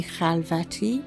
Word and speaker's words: Khalvati: My name is Mimi Khalvati, or pronounced properly Mimi Khalvati, which is from the Farsi, because I'm Iranian.